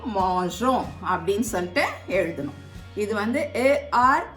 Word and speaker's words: mangeons: இல்லாட்டினா அது மாங்கோம் அப்படின்னு சொல்லிட்டு வரும். அதனால நூ வர்ற இடத்துல ஒண்டி இருக்கும். அப்பதான் நம்ம ப்ரொனவுன்ஸ் பண்ணும் போது மாஞ்சோம் அப்படின்னு சொல்லிட்டு ப்ரொனவுன்ஸ் பண்ண முடியும்.